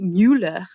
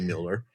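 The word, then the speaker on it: Müller: I mean, I guess it's Robby Muller. Well, yeah, it looks like Muller, but the U does have an umlaut. So it'd be Muller.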